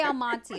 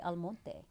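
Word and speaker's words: Almonte: Al Monte is how I say it, but some people say alone.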